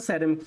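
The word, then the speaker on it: ceramics: हम सेरेमिक बोलते हैं सेरेमिक इसकी प्रोनाउंस याद रखना सेरेमिक्स होता है चीनी मिट्टी की चीज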